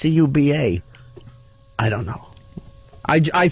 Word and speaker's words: Cuba: wow ding ding ding Kuba good I thought he's pronouncing Kuba what why would you call him that it's Cuba I don't know I